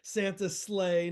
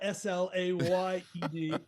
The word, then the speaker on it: sleigh: And let's spell it so the people know we're talking about Slade as if you're on a Santa sleigh, not Slayed, although that's part of the mystery.